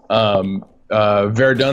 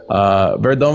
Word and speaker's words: Verdun: Verdun, the game that we're watching here today, that I am apparently mispronouncing, is how is it pronounced?